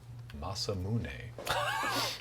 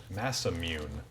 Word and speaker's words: Masamune: I'm going to remind everyone, it's pronounced Masamune, not Masamune.